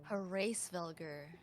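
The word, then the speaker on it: Hraesvelgr: The great worm it dragon her race vvelar. There we go. That's how you pronounce it.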